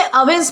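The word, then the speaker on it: evinces: दोस्तों इसे अवेंस प्रोनाउंस किया जाता है और यह वर्ब है।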